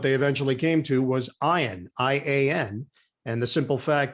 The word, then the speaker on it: Ian: for my entire life they think it's ian and i have no problem with it i don't take it personally i understand that's been the more acceptable pronunciation but my parents didn't name me iron they named me after